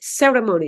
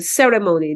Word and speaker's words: ceremony: or uh ceremony ceremony instead of saying ceremony they would say ceremony okay usually the stress in Philippine English is in the second syllable and in most English terms the stress is on the first syllable okay so that's what